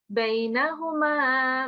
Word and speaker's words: بينهما: This rule will be covered, inshallah, but it will be, listen carefully, I will not be reciting a noon gunna here, it will be khulla. So it will be بينهما برزخ لا يبغيان.